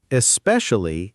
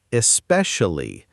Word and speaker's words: especially: Especially is especially, not especially. And actually is actually, not actually.